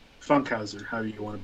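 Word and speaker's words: Funkhouser: Anyway, it's Kyle Funkenhauser. Funkhauser, however you want to pronounce. I don't. There's no N. Funkhauser. Yeah, I'm adding an extra like N in there.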